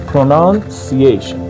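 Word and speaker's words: pronunciation: یعنی تلفظ کردن پرونالسیشن این آیتی این تیآی او ان همیشه در هر کلمه‌ای در هر جایی که شما به این تی آی ان رسیدید این رو باید ش تلفظ بکنید پروانسییشن خیلی راحت لغت بعدی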